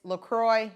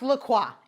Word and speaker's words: LaCroix: we've made that work with a box of lacroix uh a stack of notebooks and then my nutribullet box and if you're telling me that it's lacroix you're wrong it's pronounced lacroix anywho that's the first part of the basics